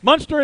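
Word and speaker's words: Muenster: s t e r what's your guess monster munster is correct another point they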